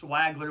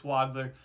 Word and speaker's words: Wagler: You would think it's Swagler with the way it's spelled, but it's Wagler.